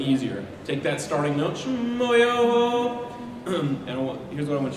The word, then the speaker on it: Schmoyoho: Schmoyoho, accent on the yo.